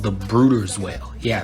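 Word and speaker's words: Bryde's: today we're going to be talking about the bride's whale first up it's not actually called the bride's whale it's called the brooder's whale yeah it's pronounced brooders which i don't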